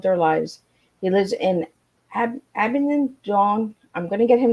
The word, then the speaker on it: Abingdon: So before we get started, Duncan, I want to get out where you're from, because I couldn't pronounce it right. So I live in Abingdon, which is Abingdon.